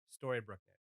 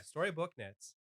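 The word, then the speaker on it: Storybook Knits: as a brand and it is story brookin that's all they they do story book not Brook yeah story book knits and it's all I've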